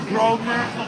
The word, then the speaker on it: Grosvenor: There's a hotel, and it's called Grosvenor. Grosvenor, but it's spelled Grosvenor House.